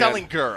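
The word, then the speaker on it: Ehlinger: I mean, I think it's Ellen Gur. I think we're hard G on that.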